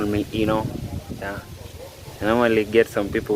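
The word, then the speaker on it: Inoh: This is Eno Mark 29. Can call me Eno.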